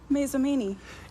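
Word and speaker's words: Mazomanie: It's currently 10 milesi from Mount Horb in the town of How do you How do you pronounce that town? Masamini.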